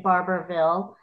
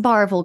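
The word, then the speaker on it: Barbourville: buy a house in Barberville in barville no okay it's pronounced barville girl you don't pronounce the middle of it it's where my dad's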